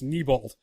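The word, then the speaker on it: Neibolt: and all that stuff which I hate pronouncing it that way because my brain always tells me to pronounce it Nabal no nothing I think you would be right with me Bo yes addition you're getting it right well no that's how my brain tells me to pronounce it but I know in the book like they spell it out phonetically and it's niebolt but I never felt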